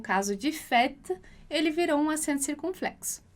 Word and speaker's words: fête: E aí, a particularidade da pronúncia para a vogal E vai ser justamente a pronúncia com som de E, é. Então, a gente vai dizer simplesmente fête, fête.